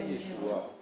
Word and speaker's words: Yeshua: Yeshua, non, c'est pas Yeshua, c'est Yeshua.